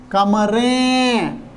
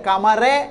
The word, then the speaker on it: कमरें: इसलिए कमरें, उच्चारणीय अलग है, कमरे नहीं, कमरें। इसलिए मेरे तरुण तरुणियों, बहुत बढ़िया सोच समझ कर लिखावट लिखनी है।